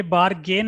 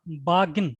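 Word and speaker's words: bargain: Language, ये बारगेन है, बारगिन। क्या है ये? इसका करेक्ट प्रोनाउंसिएशन बारगिन, तो ये क्या पढ़ा जाएगा? बार्गिन। और ब्रिटिश में बागिन एक और होता है ये वाला।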